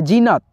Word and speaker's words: जीनत: लिखा है जीनत जीनत लेकिन ज में ई की मात्रा लगा है बड़ी ई का लेकिन दोस्तों यहां पे उच्चारण जो है स्लोली है जीनत तो यहां पे जेड